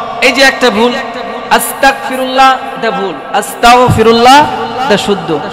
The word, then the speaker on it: আস্তাগফিরুল্লাহ: হইছে আল্লাহ আপনি আমাকে কাফের বানাইয়া দেন সঠিক উচ্চারণ হবে আস্তাগফিরুল্লাহ নিজে সঠিক ভাবে পড়বেন পরিবারের ছেলে সন্তান মা-বাবা